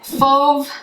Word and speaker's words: Fauve: eyeshadow quad in foam it's spelled f-a-u-v-e and i actually know how this one's pronounced because i took a lot of art classes in well actually throughout my life i took a lot of art classes and fov um is a type of painting style almost uh usually